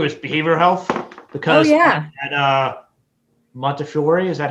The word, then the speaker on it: Montefiore: Now, the last thing that I want to talk through is behavioral health, because at Montefiore, is that how you say it? Yes, Montefiore.